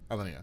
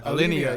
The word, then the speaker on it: Alinea: Alinea. Yeah. Okay. Alinea.